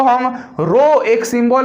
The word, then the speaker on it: rho: तो रेसिस्टिविटी क्या होती है भैया, रेसिस्टिविटी को हम रो, एक सिंबल है हमारा रो से डिनोट करते हैं, इसी को हम रो कहते हैं, RHO रो। यहाँ पे एस साइलेंट होती है, रो ही है जिसकी